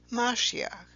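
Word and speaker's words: משיח: shown in the first row here and is pronounced mashiach below that is the greek term for the anointed one which is pronounced christos now these two terms mashiach and christos would later be in english the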